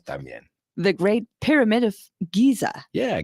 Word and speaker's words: Giza: La Gran Pirámide de Giza. De Giza. Pensaba yo, digo, Dani Guiza es futbolista. Tiene una pirámide. Sí, ok. Pues mira, yo aprendo cosas también. The Great Pyramid of Giza. Yeah, Giza.